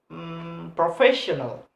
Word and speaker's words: professional: For example, in word professional. When pronounce this word, we must place the stress is placed on the third syllables to the last one. So professional first have a stress.